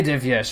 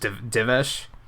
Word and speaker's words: Divyesh: Hey, Divyesh, how's it going? Am I pronouncing that correctly? And what ethnicity is that name, if you don't mind me asking? Oh, the Y is silent, so it's just Divesh.